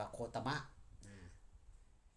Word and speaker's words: โคตมะ: โคตม โคตมะ โคตมะ เหน โคตม เด ข เว เป็น ปตา บาลี โคตมะ โคตม ภาษา ไทย อ ว่า อ่าน ว่า โคตม แต่ ภาษา บาลี เอิน ว่า โคตมะ โคตร แห่ง กรุง กบิลพัส